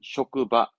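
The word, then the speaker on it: 職場: 직은 쇼크. 장은 조이지만 지금은 쇼크바. 훈독의 쇼크바. 직장을 쇼크바 합니다.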